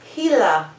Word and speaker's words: Gila: different word for it what is it actual pronunciation of it is gila he's a monster so it's a giant helaman